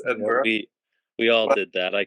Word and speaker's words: Edinburgh: like you said, Bryce, you pronounced it all wrong. I did the same thing. I said Scotland, Edinburgh. Of course, it's Edinburgh.